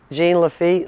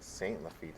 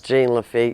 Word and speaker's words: Jean Lafitte: Royal, how do you pronounce the name of the town here? Jean Lafitte, Louisiana. Jean Lafitte. I thought somebody was saying Saint Lafitte.